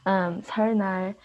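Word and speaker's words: 설날: It's kind of, I still find it difficult to pronounce because of like the L, like this part and then this part put together.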